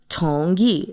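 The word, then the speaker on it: 同意: Tongi is how you say to agree in Mandarin.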